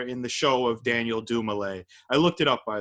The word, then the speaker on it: Dumile: the show of Daniel Dumoulin. I looked it up, by the way. I wasn't sure if it's Daniel Dumile. No, it's Dumoulin. He says Dumoulin.